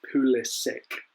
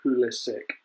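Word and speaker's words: Pulisic: he'll tell you how he wants his name pronounced and apparently it's poolish sick so there you go christian pool is sick i said it when he signed and i'll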